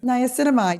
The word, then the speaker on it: niacinamide: Niacinamide? Does that sound right? Niacinamide.